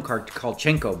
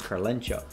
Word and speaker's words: Karlencho: And I used to, I called him Karlchenko before, but now I've learned it's Karlencho.